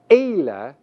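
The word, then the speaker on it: אֵלֶּה: The masculine singular form that translates that is pronounced hu, and the feminine singular form that is pronounced he. In the plural column, notice that the form eila is common.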